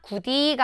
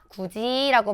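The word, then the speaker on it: 굳이: 그럴 땐 우리가 구디가 아니라 구지라고 발음하고요.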